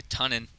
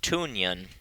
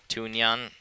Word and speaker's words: Tunnan: Sophia Tunnan, number 7 for Georgia State, stepping into the box here. We've been told it is pronounced Tunyan. Tunyan? Tunyan, apparently.